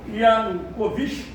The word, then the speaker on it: Yanukovych: Mas, como na política governos mudam, com a mudança do governo, nós tivemos aqui a eleição do presidente Viktor Yanukovych, ou, querendo pronunciar Kovic, também pode, aliado do então presidente Vladimir Putin, que se encontra à frente do governo russo até hoje.